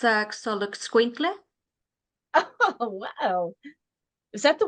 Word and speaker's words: Xoloitzcuintle: Daisy, how do you pronounce that Mexican hairless dog? They call them Xolo for short, but it's a Xoloitzcuintle.